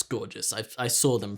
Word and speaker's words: Gorgias: Or maybe like, no, it's Gorgias. I saw them pronounce it.